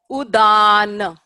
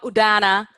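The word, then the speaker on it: उदान: Udana. Not udana, udana. Vyana. Done? So this is all one syllable.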